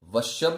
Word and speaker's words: वश्यम: अब यहां पर आपको वश्यम बोलना है, वश्य नहीं बोलना है।